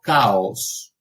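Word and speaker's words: chaos: caos si recuerdan que la ch en realidad está transmitirán una letra griega es la ji pero ahora tomo comunidad y que la pronunciación es el primer sonido que vimos hoy el sonido de la k de la exclusiva velar sorda si entonces luego caos y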